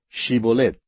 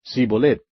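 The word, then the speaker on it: Shibolet: le decían ahora pues di chibolet y él decía sibolette porque no podía pronunciarlo correctamente Entonces le echaban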